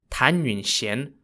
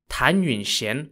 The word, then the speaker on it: Tan Yunxian: well who we're going to talk about today tanun Shen was born in the year 1461 in the Ming Dynasty of China her name is spelled t a n y u n x i a n tanun Shen was born into a well-off and well-known family